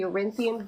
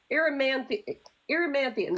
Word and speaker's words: Erymanthian: And so this is after the kids get on, was it the Eurynthian boar? Am I remembering that right? They get on that board, Erymanthian, that's how it's said.